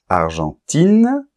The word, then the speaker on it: Argentine: vois bien la différence argentin avec la nasale Argentine il n'y a plus de nasal parce qu'il y a un E qui détruit la nasale en fait et on entend I et n argentin Argentine allemand on